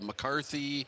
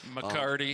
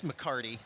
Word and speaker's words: McCarty: top players with uh mccarthy mccarty mccartney yep i said i said his name wrong right yeah it's mccarty mccarty okay uh gibb yeah right